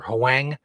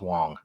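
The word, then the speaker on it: Hwang: It's spelled H-W-A-N-G. I would call it either Huang or Wang. It's Wong.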